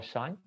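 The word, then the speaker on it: sinh: So this arc Sanj, I guess it's pronounced as Sanj, right? In US, or Shine, Sanj.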